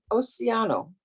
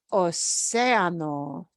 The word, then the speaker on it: océano: El hombre va a nadar en océano. Va a nadar en el océano. En el océano. Océano océano. lleva tilde. Océano. That carries a Okay. little accent mark.